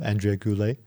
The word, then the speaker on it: Andrea Goulet: Andrea Goulet. Check her out everywhere. I hope I pronounced your name correctly.